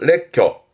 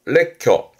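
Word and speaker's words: 列挙: 여러 가지로 들어서 말하는 열거에 발음은 레켜 레켜 열도죠.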